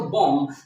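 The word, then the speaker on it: bomb: हमारा दूसरा शब्द है हम ज्यादातर बम ही पढ़ने हैं उर्दू में भी इंग्लिश में भी तो ये भी देखेंगे तो बम तो यहां पर भी बी हमारी साइलेंट की जाति है इसी क्लाइंट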